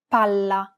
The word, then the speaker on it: palla: Unlike English, double consonants must be pronounced clearly and held for longer periods of time in Italian. Failure to do so could result in miscommunication. Pala, palla.